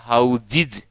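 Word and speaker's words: houses: होता है क्लासीज, हम बोलते हैं हाउसेज लेकिन होता है हाउसीज, और फिर ये से भी जे बदल जाएगा तो हो जाएगा हाउजिज, हाउजिज, ये आगे देखेंगे।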